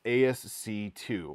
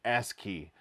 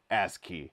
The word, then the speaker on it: ASCII: pronounced the code as asc2 which is incorrect brian vines very graciously pointed out that it's actually pronounced as key just like it sounds as key thank you so much